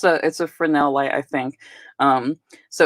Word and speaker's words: Fresnel: A Fresnel light. I get really thrown off by that S. I was just like, Fresnel? What's a Fresnel? But it's a Fresnel light, I think.